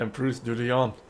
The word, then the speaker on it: Emprise du Lion: Not something lion, but Emprise du Lion.